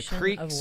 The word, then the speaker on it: creek: That is the veins, the rivers, and the creeks or cricks, whatever you want to. We would call it the crick, but I know it's pronounced creek for some people, depending on where you live.